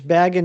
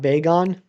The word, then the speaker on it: Bagon: It's Bagon, not Beon. Gotcha. You don't have the heart to look it up. That's fine. I'm gonna I'm gonna pronounce it how I How did I pronounce it? Beon. I think I always pronounced it Beon. But Baggin makes more sense.